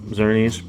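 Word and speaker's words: Xerneas: was it next is a holographic uh uh zurnies that's how that's pronounced and i just like the again the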